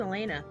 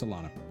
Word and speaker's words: Elana: Alana Elena Al y I thought it was Elena no it's Elana oh even though it's